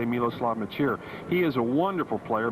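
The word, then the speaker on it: Miloslav Mečíř: how to pronounce his name in fact it's pronounced a lot of different ways but we say miloslav maer he is a wonderful player moves around very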